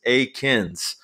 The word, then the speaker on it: Eakins: unfortunately so yes correct it is a kins that is is the way you pronounce his name but yeah the way